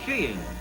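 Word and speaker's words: skiing: of winter sports is sheing and sheing is the correct pronunciation they tell us she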